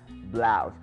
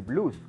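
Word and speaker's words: blouse: por último tenemos la palabra blusa que se pronuncia blaus cuidado confundirla con español y decir blues como blusas no la pronunciación es blues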